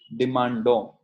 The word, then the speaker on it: demandons: Nous demandons. Demandons. It is not pronounced as ONS. It is pronounced till here only.